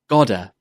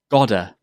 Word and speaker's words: gotta: To make this contraction, you need to make the word to sound very weak, like this. Ta. Ta. Also, the ta in got is often pronounced as a d sound. Repeat after me. Gotta. Gotta. Did you hear the d sound?